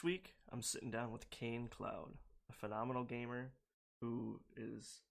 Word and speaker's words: KaineCloud: Is that how it's pronounced? Yeah, that's how you say it, Kaine Cloud.